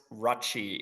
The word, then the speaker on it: Rutsche: It's Swiss German.